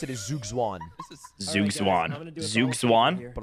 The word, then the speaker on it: Zugzwang: I think the best way to pronounce it is Zhuge Zhuang, Zhuge Zhuang. Zhuge Zhuang. but I'm gonna look it up. Zhuge Zhuang. It's Zhuge weird. Zhuang. Zugzwang.